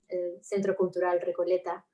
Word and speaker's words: Centro Cultural Recoleta: So they asked me for this museum in Argentina, Centro Cultural Recoleta. That's how I pronounce it.